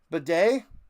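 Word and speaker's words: Badie: Um that is Bedet. It's not Batty. They were mispronouncing it. Bedet. B- A D I E. Bedet apparently.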